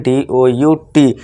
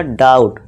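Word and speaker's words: doubt: तो समझ लीजिए बी क्या है यहाँ पे, साइलेंट है, हम इसे भूल जाएंगे तो सीधे क्या पढ़ेंगे DOUT।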